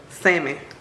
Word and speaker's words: salmon: say this that's good silent L salmon my myama look at